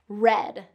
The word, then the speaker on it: read: And for whatever reason, we spell it the same as read. Okay, we read a book yesterday is a past tense of read. So that is going to get that red. Same pronunciation as the color red. That short vowel.